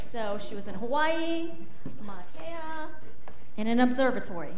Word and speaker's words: Mauna Kea: Mauna Kea. She said it right. Mauna Kea, yes.